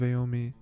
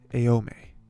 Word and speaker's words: Aomine: I think we'll see the full extent of Aomine's. I like to say just Aome, but there's an extra syllable in there. Aomine.